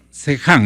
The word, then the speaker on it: Seham: Al-Sahadi Seham. Sejam, ellos pronuncian la H como J, ¿no?